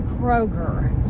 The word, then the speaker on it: Kroger: Kroger's instead of Kroger. Okay, Well, this is a big one around here. This one, there's no S in Kroger, by the way.